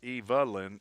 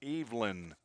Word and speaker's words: Evelyn: Not Evalyn, Evelyn. Spelled like Evelyn. But not pronounced that way as Rex Pendergrass tried to fake out our third baseman.